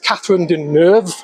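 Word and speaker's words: Catherine Deneuve: It's got Susan Sandon and it's got Katherine Durv. That's how you pronounce her name. French.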